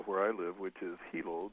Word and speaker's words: Hilo: I live, which is Hilo. The I's are pronounced like E's in Hawaiian language. And you may remember that our friend Rosemary Clark also lived here in Hilo with her husband, Gary Lyon.